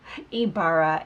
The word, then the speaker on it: Ibarra: to pronounce your last name how do you pronounce oh that's okay kee Barra Ibarra Ibarra so before we get started with